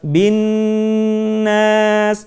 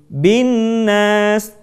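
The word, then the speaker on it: ٱلنَّاس: Sekali lagi perhatikan kalimat binnas. Kita tidak membacanya dengan tergesa-gesa menjadi binas, tetapi tahan suara kita.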